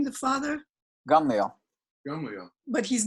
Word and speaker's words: Gamliel: You said that Shaul was a classmate of Gamliel, but yet he's also his teacher. No. So No. Shimon ben Gamliel would have been his classmate. Shimon, and then the father is, what's his name? The father? Gamliel.